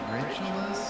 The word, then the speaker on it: Regulus: When even the name Regulus, which we should be pronouncing Regulus because it's the same reg as in region.